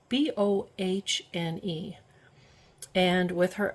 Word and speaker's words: Bohne: In German, the word for bean is spelled B-O-H-N-E, and with her accent, she would say Bohne Soup.